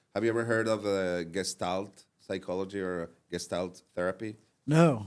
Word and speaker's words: Gestalt: And many of the Gestalt psychology principles are used in design, like graphic design, in branding.